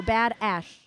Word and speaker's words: Bad Ash: So Bad Ash, like mountain ash.